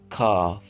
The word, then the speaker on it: calf: इसमें हम एल की आवाज़ जो है उसको साइलेंट करेंगे। calf।